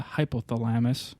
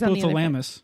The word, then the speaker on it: hypothalamus: Sensory cortex, the hippocampus, amygdala, and then ultimately the hypothalamus to scare the ever-loving crap out of you. I think it's hypothalamus. Hypothalamus. Wrong syllable. That's what I said. No, you didn't.